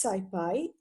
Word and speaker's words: SciPy: them so let us begin our class on skyfi and and it is actually uh pronounced as scipi many of you can even say Ci or